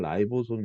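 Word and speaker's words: ribosome: 요건은 여기 별표 입니다 리부 손 영어 발음은 라이 보솜 인데 라이브 솜을 합성 합성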